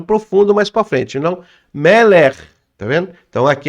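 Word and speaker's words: מלך: Tem algumas pessoas que falam Melek, mas e termina com K só, mas o correto não é K, tá? Aí vai depender da dicção, mas o correto, ele é um RAF sufite, e RAF sufite, R, é arrastado. Então, o correto é Meler.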